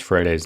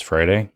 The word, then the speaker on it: Freire: Update, I bothered to learn how to pronounce Freire's name. It's Freire, not Freire or whatever. It's Freire. He's Portuguese. I'm Brazilian, but the name is in Portuguese.